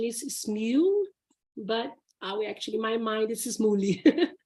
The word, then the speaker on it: Smule: use the app Smule, which I thought was Smooly before, but then I found out that it looks like the correct pronunciation is Smule, but my mind is Smooly, but it's Smule.